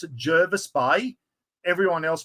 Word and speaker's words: Jervis Bay: get Jaris Bay or Jervis Bay the locals pronounce it Jervis Bay everyone else pronounces it Javis Bay I know the military call it Javis Bay in a Mr buaron chopping board here we